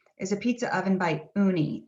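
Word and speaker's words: Ooni: a pizza oven by uni and that's spelled o-o-n-i uni is a very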